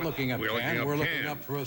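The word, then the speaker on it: Cannes: an as in Canada can a port in in France can c a an k k a an is pronounced not con is that a French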